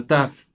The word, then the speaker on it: ת: The last letter of the Hebrew alphabet is the letter Taf. It produces the sound T for Tom, the same as the letter Tet, the ninth letter of the Hebrew alphabet.